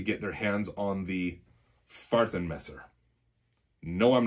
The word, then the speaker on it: Fahrtenmesser: very excited to get their hands on the Fahrtenmesser. No, I'm not kidding. That is what they're called. It translates to sheath knife. In English, it's Fahrtenmesser.